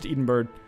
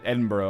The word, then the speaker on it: Edinburgh: time goes on all right so we've sieged Edenberg uh Edinburgh I suppose is the correct pronunciation there we're going to enforce our demands